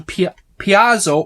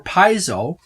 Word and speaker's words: Paizo: This is the Pathfinder Second Edition Conditions deck from Paizo or Paizo. I've heard both pronunciations.